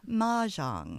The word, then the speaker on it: Mah Jongg: Maang ma jang.